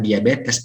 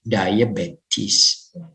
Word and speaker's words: diabetes: diabetis Next Launcher medication kalau kita orang Indonesia menyebutnya DM tuh diabetes melitus beda kalau dalam mengucapkan Inggris kalau pengucapan English bukan diabetes tapi Day bye kiss Bagaimana nomor 5 service